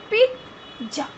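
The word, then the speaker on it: pizza: Correct pronunciation is पिज्जा, पिज्जा.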